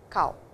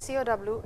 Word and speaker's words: kao: ha, mimi, te, ashi, kao. So, well, let us see what it is. Me, hana, kuchi, ha, mimi, te, and ashi, and then we have kao. So, it is not COW, it is KAO.